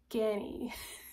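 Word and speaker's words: Ganni: clothing brand is like I can never pronounce it Genny Journey g a n n i Ganny I have like a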